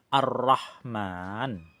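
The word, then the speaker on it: الرحمن: Alif lamnya tidak terbaca dan melebur ke dalam huruf ro. Arrahman ya. Arrahman alif lamnya hilang.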